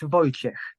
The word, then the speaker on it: Wojciech: Would it be Wojciech, perhaps? Or Wojciech? Hello everyone, it's Wojciech. I wasn't too far. But you can also say in the shorter way Wojtek.